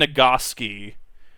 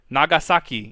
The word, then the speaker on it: Nagasaki: with in high school pronounce it Hiroshima and nagoski I you not and I'm like Nani Nani Kore it's Hiroshima Nagasaki and even then I'm